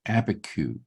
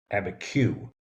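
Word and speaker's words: Abiquiu: It's actually, they pronounce it Abiku. Abiku.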